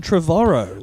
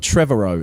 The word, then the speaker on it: Trevorrow: end up like Colin Trevorrow oh is that how you say it yeah I've always thought Trevor Oh in my head well email us that's